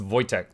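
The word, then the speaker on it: Wojtek: Yeah, it's it looks like Woe in English, but it's pronounced Voytech.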